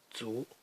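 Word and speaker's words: 卒: This is pronounced zu.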